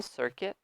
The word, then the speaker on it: circuit: Yeah, so note here the second syllable, circuit. You totally remove it, ignore it. Circuit, circuit. Much easier as well. So just remove the U, circuit.